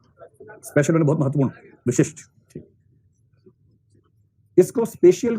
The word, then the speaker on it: spatial: एक शब्द स्पेशल intelligence. अब देखो असल में स्पेशल स्पेशियल शब्द है और उसमें कई लोग उसके उच्चारण के वैसे गड़बड़ करते हैं।